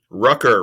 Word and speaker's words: Ruecker: I got my guest, CEO Ruecker. Did I pronounce it correctly? Rucker rhymes with Tucker and Sucker and any other names you can think of.